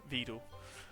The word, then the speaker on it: Veedle: it everything he can, Veedle. Yes, rhymes with Weedle.